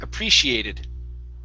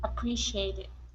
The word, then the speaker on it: appreciated: up is appreciated okay so our stress is right there appreciated appreciated very good and the last